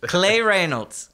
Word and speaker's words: Cley Reynolds: I got that at the IRS building plasma clay Reynolds right that's how you pronounce it Jennifer clay Reynolds sign it's been